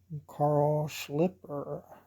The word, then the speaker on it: Carl Schlieper: it's made by a Carl Schlieper, and that is the way you pronounce his name. I heard that from a German, so they should know how to say a German name.